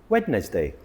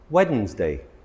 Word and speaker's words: Wednesday: Tuesday, weddness day. Wedness day. That doesn't sound right. Wedd's day.